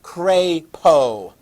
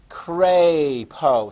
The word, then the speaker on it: Crapo: jim risch and mike craypo cray poe think of a why being after the a and that will help you from mispronouncing it crapo that is just